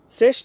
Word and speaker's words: শ্রেষ্ঠ: শ্রেষ্ঠ উচ্চারণ কি হবে? শ্রেষ্ঠ। দেখো বানানে আছে তালব্যস্য, কিন্তু উচ্চারণে আমি লিখেছি দন্তস্য।